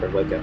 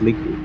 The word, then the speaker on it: Liku: But, everybody pronounces my last name like or Lika, but it's actually pronounced Liku, so...